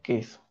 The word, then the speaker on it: queso: tendrá una forma acceso que se pronuncia queso ya tenemos queso Recuerda que estos de la q es para darle el sonido de K porque no diría que